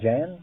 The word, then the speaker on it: Jan: language do you speak uh how do you pronounce that Jan Jan that's right that's my name what